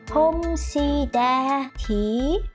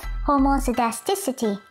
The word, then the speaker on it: homoscedasticity: Homocidacity? What's that, Hermione? It's pronounced as homocidasticity.